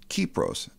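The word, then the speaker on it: Κύπρος: pure copper in Greek the word Cyprus is pronounced kepros it's where we get our word copper copper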